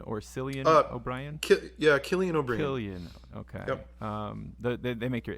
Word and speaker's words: Cillian: Help me pronounce this one. Is it Cillian or Cillian O'Brien? Cillian O'Brien. Cillian.